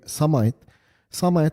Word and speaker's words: Semite: Even the names, for instance, if you go back to the original name Semite are the people that No, you're saying it right.